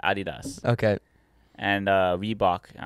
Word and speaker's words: adidas: they call it yeah yeah yeah it's actually pronounced adidas okay and uh reebok i don't know no